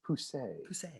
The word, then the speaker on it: Pousse: my favorite um well that's how he says it's pronounced poussey it's french um but like sometimes klaus